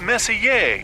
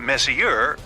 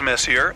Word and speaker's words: Messier: Pronounced Messier, not Messier, as in is your room messier than mine? Charles Messier, I mean Messier to be precise, was a French astronomer in the 18th century.